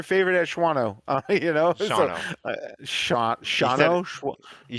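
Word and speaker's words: Shawano: You know Shauno you said it like you said it how the GPS says it. GPS says Shuano but it's Yeah, it's there's like no A A is silent.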